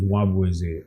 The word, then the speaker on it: Nwabueze: My full name is Nwabueze.